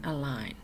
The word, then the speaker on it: align: ballet buffet and listen silent G sign and align let's review what we learned about word endings